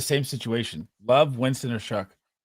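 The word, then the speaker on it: Shough: Shuck Shuck uh versus the Atlanta Falcons.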